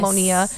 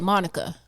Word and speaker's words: Monia: or i'm sorry they yeah they'll think the i is silent or they'll add a c and say monica oh you're like no